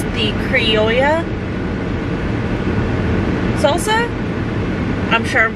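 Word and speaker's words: criolla: pronouncing that wrong still it's c-r-i-o-l-l-a but since it's a double l in a spanish language it's the yeah sound but that's hard to pronounce with it coming right after the i o so i don't know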